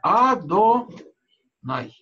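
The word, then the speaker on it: אדני: Но никогда оно так не читается, как мы читаем это имя в благословениях или, скажем, при изучении Торы, мы читаем «Адонай». Да.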